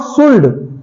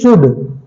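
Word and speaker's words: should: सल्ड नो नो नो नो इट इज नॉट शुल्ड इट इज शुड शड एल E silent here okay next हमारा सी ओ यू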